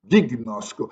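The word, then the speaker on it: γιγνώσκω: do verbo grego gnosco se escreve gnosco mas se lê com som de G duro gign noco Isto é conhecer e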